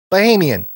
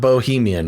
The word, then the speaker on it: Bahamian: I don't think it's Bahamian, is it? It's in the Bahamas. Bahamian. Oh my gosh. I just corrected you. The machine spoke. How'd you spell it? No, look, I just did the speech thing. Bahamian. Okay. But not Bohemian, which is what you first said.